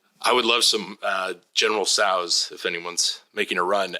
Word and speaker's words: Tso: I would love some General Tso's if anyone's making a run. I'm sorry. It's pronounced General Tso's.